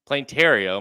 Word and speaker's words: Planetario: My issue with is it Planetario? Is that how you say it? Yep. Okay. Planetario.